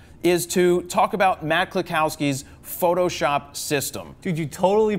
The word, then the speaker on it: Kluskowski: Is to talk about Matt Kluskowski's Photoshop system. Dude, you totally pronounced it right before we were on. Kluskowski. Wazowski?